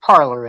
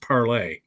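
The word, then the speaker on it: Parler: yeah you know what everybody here knows what parlor is right yeah okay so this is hysterical on a piss off a parlor person tell him it's pronounced parlay it is so a lot of people who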